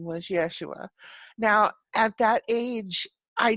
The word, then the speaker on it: Yeshua: familiar name which was Yeshua and Yeshua is actually what he was called in that life and that's his Hebrew name Jesus is a a